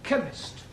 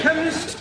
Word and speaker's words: chemist: Ali yes please spell chemist oh blame me k e n chemist does not begin with a k it sounds like it begins with k CH h that is